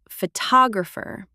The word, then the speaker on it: photographer: Photograph, but photographer. The stress moves to the second syllable. Photographer. Photographer. Same root word, completely different stress.